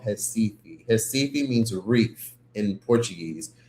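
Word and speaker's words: Recife: where I'm at, I'm in a city called Hesi. Hi means reef in Portuguese. So, it's spelled R E C I F E. Hifi is cool.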